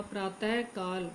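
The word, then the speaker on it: प्रातःकाल: प्रातः काल, इसका शुद्ध उच्चारण होगा प्रातः काल, प्रातः काल, यानी प्रातः के बाद। तो प्रातः क्यों बोला जाता है, क्योंकि इसके साथ विसर्ग लगा।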